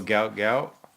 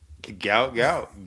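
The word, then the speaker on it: Gout Gout: Oh, gout. Gout.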